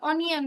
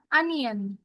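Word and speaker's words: onion: এটা অনিয়ন না, আনিয়ন।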